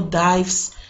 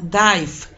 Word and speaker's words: dive: presente simple, dive o dives, para la tercera persona del singular, él, ella, ello, y quiero enfatizar, dive, pronuncie la V, V, es como una F suavecita, dive.